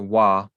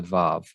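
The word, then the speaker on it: ו: they will use a Wa. So what this is showing is that when you compare Hebrew speakers around the world, you find them being consistent in using Vav and pronouncing it as a Vav.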